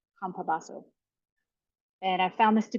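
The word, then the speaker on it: Campobasso: do you want a screenshot the author's name is spelled c a m p o b a SS o Craig kabaso kabaso and I found this to be pretty accurate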